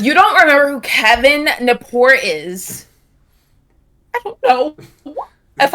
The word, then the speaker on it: Gnapoor: Because if you don't remember who Kevin Napor is, I don't know if I have faith in humanity anymore, Chase. The G is silent.